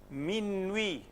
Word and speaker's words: minuit: U, E. How will you pronounce it? But it's very simple here actually. Lui, minuit.